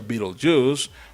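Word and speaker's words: Betelgeuse: A pesar de que el verdadero nombre del personaje es Beetlejuice, este se pronuncia Beetlejuice porque sonaba muy divertido y era más fácil de posicionar en el mercado.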